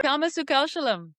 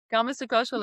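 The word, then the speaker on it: karmasu kaushalam: Karma Sukashalam. Karma Sukashalam.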